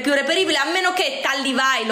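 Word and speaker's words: Tally Weijl: reperibile, a meno che Tallywhile o Tallywhale, io non so come si pronunci correttamente, penso Tallywhile, perché mi ricordo che le ragazze che lavoravano all'interno del negozio mi dicevano che si diceva Tallywhile.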